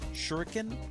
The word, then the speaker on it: shuriken: Shuriken? Shuriken. I think that's how it's pronounced, not yeah, because there's not two U's.